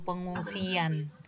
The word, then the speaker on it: pengungsian: Jadi kalau ditulis dia itu kan pengungsian. Enggak ada Y sebenarnya. Tapi kalau kita lafalkan itu ada luncuran Y. Jadi pengungsian.